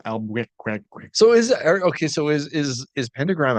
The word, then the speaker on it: Albuquerque: it's pronounced Albuquerque.